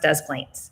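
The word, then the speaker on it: Des Plaines: is des moines but just plains is pronounced does planes des d-e-s not z all right i think we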